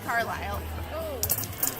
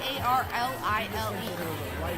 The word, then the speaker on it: Carlile: I've seen Brandy Carlisle. Oh, Carlizé. What? Carlizé? Brandy Carlisle. Carlessly? I do love It's spelled. No, it's Carlile. There's no S.